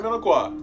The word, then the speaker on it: Minocqua: But we're going to hear what the pronunciation of it is anyway. Let's do it. Minocqua, Wisconsin. Oh, I was right. Minocqua.